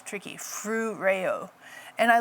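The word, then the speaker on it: φρουρέω: And I like this word guard because in the Greek it's phroe, I never quite say it right, phroureo. Like, yeah, it's tricky, phroureo.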